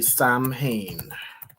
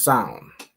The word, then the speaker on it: Samhain: So it's not exactly Samhain. How would you pronounce this? Let me look up pronunciation. Sohan, I think it's pronounced. All right, Sohan. Oh, hold on. It's pronounced as sound.